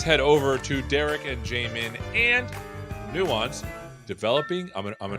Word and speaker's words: Jamin: don't you introduce yourself we'll start with you Jamin did I say it right you did and that's a 50 50 shot so you did pretty good uh my name is Jamin and I am a product manager at Nuance